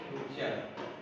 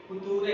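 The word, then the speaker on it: future: जैसे ऐसे लिखा होता है फ्यूचर और ऐसे लिखा होता है नेचर इसका स्पेलिंग क्या है एफ यू टी यू आर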